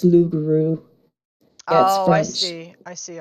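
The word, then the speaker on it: loup-garou: a bit oh yeah Loop Guru but it's the it's not pronounced it's l grew oh I see I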